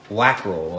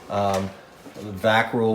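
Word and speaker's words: Wackerle: His name was Joseph Wackrell. I know I'm saying it wrong in German. Vackrell or Wackrell, and some of the very rarest models that were made of hers are Wackrell molds.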